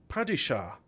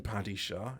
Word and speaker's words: padishah: of the known vidisha there's padishah everyone calls it paddy shah it's written padishah is pronounced padishah someone was saying oh they